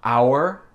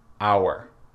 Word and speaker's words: hour: Ensuite, on a hour et hour. Donc, le H n'est pas prononcé.